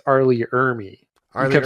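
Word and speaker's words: Ermey: Well, I think it's not to correct you, but I think it's Arlie Ermy. You kept saying Emery in the other episode. I've been mispronouncing that wrong.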